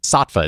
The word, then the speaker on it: Saatva: to a mattress company, Saatva. Is that how they say their names? That is, yeah. That is how they say it.